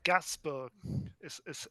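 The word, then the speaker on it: Gainsbourg: fun fact she's um so it's actually gasbor how you pronounce it because she is the daughter she's daughter of s Serge gasbor who's a big French singer does she have a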